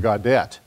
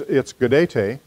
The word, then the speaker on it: Gaudete: I look at the word, I want to pronounce it Gaudete. But that's not how it's pronounced. It's Gaudete.